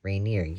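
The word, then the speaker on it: de Regniers: a pink and it's by beatric shank deer reer reineer at it g is silent and Maurice Sendak but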